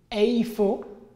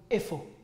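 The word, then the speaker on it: איפה: Alors, vous pouvez prononcer eifo ou vous pouvez prononcer tout simplement efo.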